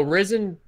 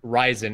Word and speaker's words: Ryzen: So Risen, or Ryzen as it's pronounced correctly, Taylor, it's not a new architecture per se.